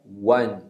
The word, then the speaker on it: one: Esse one, embora seja a letra O, a pronúncia é one. Então a gente tem um som de W no início, que é o U sem ser forte, né?